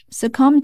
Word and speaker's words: succumb: pronunciation of s be as silent as in words like climb and lamb not only do they